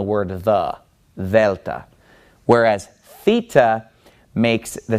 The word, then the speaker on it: Theta: remember this from math in math you called this theta using an American pronunciation but this letter in Greek is the letter theta and it makes a sound now the difference between this